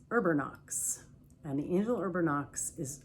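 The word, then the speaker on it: Erbanox: Urbanox is spelled E-R-B-A-N-O-X. Urbernox, Urbernox.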